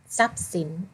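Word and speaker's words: ทรัพย์สิน: แรก ค่ะ ทรัพย์ สิน ทรัพย์ สิน อ่าน ว่า ทรัพย์ สิน เห็น ไหม คะ พอ ทหาร ควบ กับ ร เรือ ทร ออก เสียง เป็น โซ่ ทรัพย์ สิน ค้า มี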